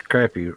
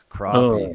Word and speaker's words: crappie: He can't even pronounce crappy correctly." Oh, here we go. Oh Crappie, man.